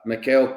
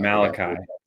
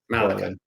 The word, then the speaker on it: Malachi: up you know uh Mel Corley numbers right where like the expectation this week is 04 points and I probably said his name wrong but you know what I'm talking about Malachi Malachi yeah and uh we're more